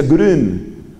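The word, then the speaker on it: Grün: llama anselmo anselma anselmo su apellido es group pero se pronuncia green grn la uie va diéresis ánxel grid en un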